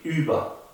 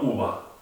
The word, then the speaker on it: Über: Otra vez, ponemos la boca como una U y pronunciamos una I. Über, no uva.